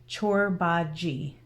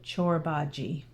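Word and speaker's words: Çorbacı: So it's spelt Corbaci, but it's Turkish and it's pronounced Corbaci. Yeah, CH for the first C and a soft J for the last C. So Corbaci.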